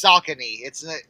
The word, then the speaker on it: Saucony: It's Saucony. yeah. It's not Saucony.